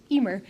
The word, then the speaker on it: Eimear: name is EMR it's an Irish name with way too many letters um but it's pronounced Emer and uh I'm from